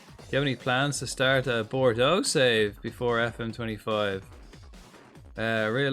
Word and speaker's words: Bordeaux: I should say Bordeaux because that's how it's pronounced. Bordeaux.